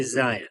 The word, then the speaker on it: Zion: So Utahns, this is how we say it, Zion. And my take on this is that Zion National Park is in our state, so the way the locals say it is the correct way.